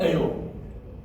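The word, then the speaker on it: אל: Okay, so you hear the S sound, which is lengthened, because Aleph is silent, Tzere is a long S sound, which is A, and then you finish it off with a Lamed. You put that together, El is the word for God.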